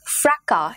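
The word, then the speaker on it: fracas: impressions under his breath फ्रेका इसे फ्रेका की तरह प्रोनाउंस किया जाता है फ्रेका शब्द का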